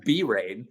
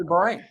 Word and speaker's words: Bahrain: Speaking quickly, I don't pronounce it B-rain. Okay. It's Bahrain.